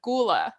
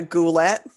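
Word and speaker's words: ghulah: a goal while the female is called a goula i was going to say a goulet yeah no and it's spelled really interesting so like i see ghoul as g-h-o-u-l yes and the male ghoul is g-h-u-l so without the o and then female is g-h-u-l-a-h interesting i have never heard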